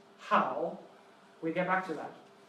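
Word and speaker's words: 好: And it's pronounced how.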